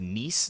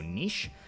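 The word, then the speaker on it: Niš: did comment saying that instead of nice this is actually pronounced with an SH so nish so thank you very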